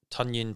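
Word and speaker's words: Tonyan: might struggle i think tanyan pronounced like an onion we'll have a good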